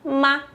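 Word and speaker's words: 妈: Então tem radical de mulher e que o ideograma de mãe se pronuncia ma.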